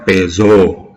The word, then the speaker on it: Peugeot: Terus Peugeot, nah itu kan bacanya susah, tapi itu kalau untuk orang karena itu merek dari Prancis, itu kalau orang Prancis sebutnya Peugeot ya.